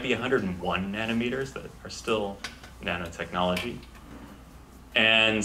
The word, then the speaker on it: nanometers: was my impression that they put the emphasis on the wrong syllable the nominee meters nanometers all the same thing